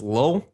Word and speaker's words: Lil: Who calls himself Little Mama? It's not little, it's Lil.